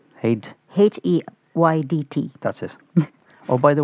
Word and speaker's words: Heydt: How do you pronounce it? Heydt. Heydt.